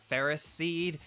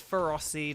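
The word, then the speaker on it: Ferroseed: it's a seed so isn't it Ferris seed it's like no apparently it's feroci that is the official pronunciation I don't know why it doesn't make sense but whatever um uh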